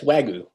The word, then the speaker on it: Wagyu: Yes, Wagyu.